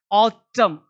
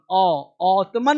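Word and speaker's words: autumn: कौ कौशल सावधानी ऑटम ऑटन नहीं देखो ध्यान देना।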